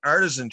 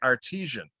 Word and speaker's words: artisan: and they were making artisan cheese okay i was pronouncing it artesian at halftime my dad